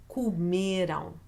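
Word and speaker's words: comem: who middle okay so even though it has that nasal sound at the end the vowel sound that is written with a am it is not the syllable you're going to stress so that's the tricky part with am words okay because most of my students tend to stress that syllable because it has that own sound but we're stressing the syllable before the last so that's why we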